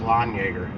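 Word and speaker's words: Landjaeger: and Carry Your Lawn Jaeger literally spelled land Yeager pronounce lawn Yeager but Jaeger's short for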